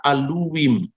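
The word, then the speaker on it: אלהים: Orang Samaria membaca Bereshit bara aluwim. Nah, jadi apa? Tulisannya sama, cara bacanya beda.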